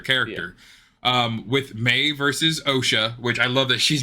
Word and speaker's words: Osha: um with May versus OSHA which I love that she's name I know it's Asha but her name is spelled OSHA that's all I think